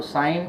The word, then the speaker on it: sine: ये साइन है, शॉर्ट में हम उसको SIN लिखते हैं, पढ़ते साइन ही है, सीन नहीं पढ़ते, कोई गुना वुना नहीं है।